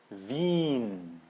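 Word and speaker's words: Wien: diz Zi né esse e a gente não pronuncia não fica zie fica Zi ou a cidade de Viena vin vin certo e outros exemplos que você vai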